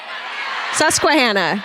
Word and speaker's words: Susquehanna: Is there a slight pronunciation difference? Susquehanna.